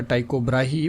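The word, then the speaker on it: Tycho Brahe: तो ये एक फेमस एस्ट्रोनॉमर और थे जिनका नाम था टाइको ब्राही, ब्राहे भी बोलते हैं, तो टीको ही बोला जाता है कहीं कहीं पे, तो जो भी आप प्रोनाउंस करिए आपको स्पेलिंग याद रखना है।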